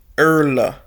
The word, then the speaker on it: Irula: Irula, natively Irla, Irla. So I'm saying it wrong.